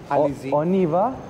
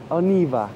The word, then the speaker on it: on y va: Oniva. Oniva. We just walked into a metro store like as well. On, and then the Y, and then ba. So Oniva. Oniva. But all together.